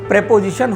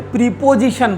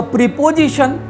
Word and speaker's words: preposition: सो हमारे पास ये प्रेपोजिशन होना चाहिए. यहाँ पर बहुत सारे लोग प्रेपोजिशन नहीं बोलते, प्रीपोजिशन बोलते. सो प्रीपोजिशन सही उच्चारण नहीं, उसका सही उच्चारण जो है वो है प्रेपोजिशन. सो प्रेपोजिशन.